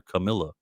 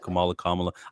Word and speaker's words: Kamala: He called her Camilla. That's not a slip of tongue. That's not, oh, Kamala Harris calls herself Kamala. They're spelled the same way, Kamala.